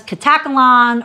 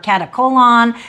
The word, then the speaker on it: Katakolon: We are back and we are discussing the next port of call, which was Katakolon or Katakolon, however you pronounce it.